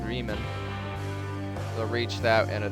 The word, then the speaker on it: Bremen: Or Bremen, I think is how they pronounce it, Bremen.